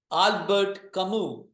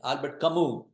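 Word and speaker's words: Albert Camus: two philosophers and now there is another philosopher Albert kamu as is silent Albert kamu he says belief in God and an afterlife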